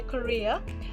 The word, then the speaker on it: career: career we must say korea so in korea we will stress the second syllable and the a is reduced and pronounced as a schwa sound so don't say i